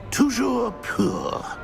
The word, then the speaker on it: Toujours pur: I order you to pronounce it for me. But Master knows that Scrope's French is most pitiful. Very well. Toujours pur.